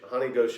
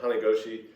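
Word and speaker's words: hane goshi: then uh honey go honey gauche i can't say it right hana goshi where you do a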